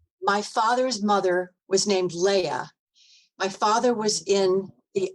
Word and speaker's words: Leia: associate ah yeah okay because the way it's spelled I could it could be Leah it could be Lee it could be Lei it could be Leia well the I is